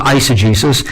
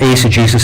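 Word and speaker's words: eisegesis: that's called ACG so I know most people pronounce it isagesis but I've been told by one of the leading scholars in the world that's actually what would have been called Ace of Jesus and that is reading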